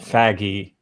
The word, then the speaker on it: Feige: It's not like but I think we just are looking at like his Feige presence on the carpets and the media shots and stuff like that. Yes, It's pronounced faggy.